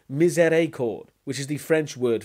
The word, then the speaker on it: miséricorde: They're not called misery chords, as you pronounce it. They're called miséricorde, which is the French word for mercy.